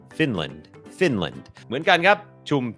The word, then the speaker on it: Finland: เป็น คอร์ส ฝึก ออก เสียง ฟินแลนด์ อ่าน ว่า finland finland โอเค อัน นี้ บ่ง บอก ว่า อ จำ ได้ มย อัน นี้ ก็ เน้น พยางค์ ขึ้น สูง ฟ Fin Fin พยางค์ ไม่ เน้น l l finland finland เหมือน กัน ครับ ชุม ชน ครับ community